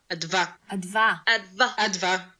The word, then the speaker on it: Adva: Think about the word advanced, but in a British accent. So advanced. Advanced. So don't say the st. It's Leviosa. Exactly. So say advanced without the ending, and that's my name right there.